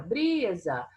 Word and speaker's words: brisa: Aqui eu falei com mais entonação, aqui eu falei mais tempo, foi o bri, certo? Então, brisa, eu tenho 2 sílabas, não tenho? Então, eu tenho 2 sílabas. A última não é a mais forte, o bri é o mais forte, e essa é a penúltima.